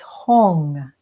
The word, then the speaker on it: Hong: And the sound is Hong, H-O-N-G.